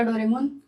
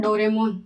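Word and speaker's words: ドラえもん: देखा ही होगा डोरेमोन तो इसको क्या पढ़ेंगे अपन क्या पढ़ते हैं डोरेमोन बट जैपनीज़ में इसको क्या पढ़ते हैं डोरामोन डोरामोन एक तो जैसा लिखा हुआ है वैसा जैसा सेकंड पॉइंट मैंने बताया था जैसा लिखा है वैसा ही डो दोराय मोन और ड का द दोराएम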